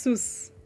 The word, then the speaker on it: Suze: And it's pronounced Sus. I'm an exported Swede.